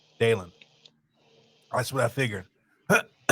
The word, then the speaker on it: Dalen: else nope that's exactly right okay and then pronounce your name for me dalen dalen that's what I figured all right very good